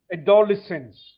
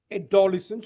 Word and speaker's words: adolescent: Uh, Pavitra, look at the word when you are reading. So that way you will know the syllable when you're pronouncing adsense ad four syllables. Adolescent. So when you say it, it'll be adolesence.